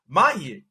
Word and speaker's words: Maher: Mahir. That's how you pronounce it. Mahir. Is it Maher?